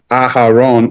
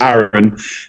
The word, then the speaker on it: Aaron: the world, a lot of people would say Aharon or Aaron. Mhm. But living in Ireland and also growing up in the northeast of England, anybody who would pronounce my names would tend to say Aaron.